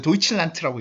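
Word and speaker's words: Deutschland: 이거 어떻게 읽어? 이거 도이칠란트라고 읽습니다. 알겠죠?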